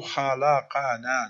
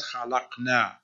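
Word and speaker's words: خلقنا: Allahu khalaqana, not khalaqna. Not khuliqna, not khaliqna, khalaqana.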